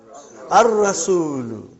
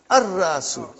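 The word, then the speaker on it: الرأس: How will you pronounce? Ar-Ra'su. Not Al. Ar-Ra'su.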